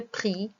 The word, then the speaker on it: prix: Le prix, X. On ne prononce pas le X.